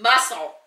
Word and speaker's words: muscle: Muscle. Yeah. Why is there a silent C in the word muscle?